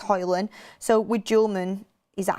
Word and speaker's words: Højlund: It's kind of like Rasmus Højlund. You know, you don't say Rasmus Højlund. Loads of people say Højlund. It's Højlund.